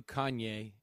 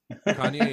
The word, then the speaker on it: Kanye: I do Kanye every time. Mm-hmm. And then Yeezy. YEEZY. That'd be a good guess, I think. Yep, every time. Kanye has changed his name now to Ye, though.